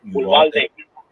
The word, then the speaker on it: Uvalde: Or how do you pronounce it? Is it Uvalde? Uvalde.